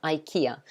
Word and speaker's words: IKEA: ikea okay exactly minji it sounds like the letter i and the car kia yeah ikea you can remember it like that maybe yeah so that's um